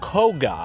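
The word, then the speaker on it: Kōka: Though I should tell you that Koka is also commonly pronounced Koga, which is the name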